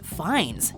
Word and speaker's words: Fiennes: learn such a pity on paper the first part feels purely American Ralph everybody knows a Ralph right but this is no Ralph as the English actors name is Rafe furthermore Rafe's last name is pronounced Fiennes not beans very good